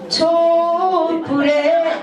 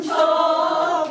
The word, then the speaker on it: 촛불: 촛불에 이 발음을 정확하게 치자를 안 그러면 뭐예요? 꺼져가는 촛불에 이렇게 되기 때문에 촛자를 치자를 강하게 해주셔야 돼요. 다시 꺼져가는 촛불에 잘한다.